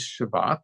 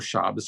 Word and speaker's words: Shabbat: And today is Shabbat, or Shabbos. I like pronouncing it Shabbos. I'm a traditionalist.